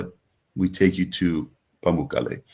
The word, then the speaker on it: Pamukkale: And the I'm not going to pronounce it right. The how do you say the Pamuk- pools? Pamukkale.